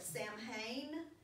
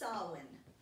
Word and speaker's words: Samhain: ancient feast of and that word looks like Samhain but it's actually pronounced sahlan so the ancient feast of solvent it came from druids in Celtic tribes when